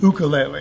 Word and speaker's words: ukulele: And you say it like a Hawaiian, ukulele.